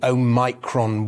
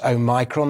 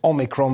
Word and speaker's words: omicron: a plaster on the omicron wounds i'm pleased to say that i finally discovered the correct way to pronounce oh micron there was me thinking it was omicron but it is in fact o micron so we turn